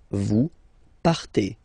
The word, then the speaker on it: partez: Okay, then for vous, classic ending for vous as well, EZ, but then you pronounce it E. Vous partez.